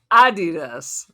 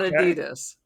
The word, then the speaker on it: Adidas: So, it's this Oasis Adidas, which why you pronounce it that way, by the way? It's called Adidas. It's not Adidas.